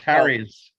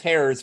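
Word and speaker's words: Hyades: is that nearby or is that pronounced Harry's well no that's that's hairs but that's just uh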